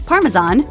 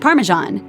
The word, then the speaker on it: Parmesan: The correct pronunciation, Parmesan, is actually a bit controversial. It's the French name for an Italian cheese, so it should carry the French pronunciation.